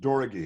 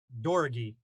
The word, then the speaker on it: Doroghy: name is uh pronounced Dori it's an unusual name it's a Hungarian name Dori Dori that's correct yeah Dori